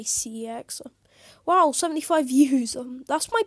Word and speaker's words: CeX: but i hate cx or i mean it's pronounced sex but that's kind of awkward so i'm just going to say cx wow 75 views that's my best doing video